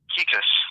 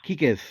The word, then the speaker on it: Kekes: Kekes. Kekes.